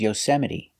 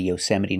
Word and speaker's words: Yosemite: They come from other languages, so we pronounce the E at the end, but we pronounce the E in different ways.